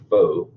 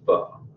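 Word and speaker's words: phở: I know it looks like pho or po when you look at the spelling, but it's actually pronounced pho.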